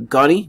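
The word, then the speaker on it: Goni: or ghani or connie that's the pronunciation of ghani based on the korean accent so let's pray that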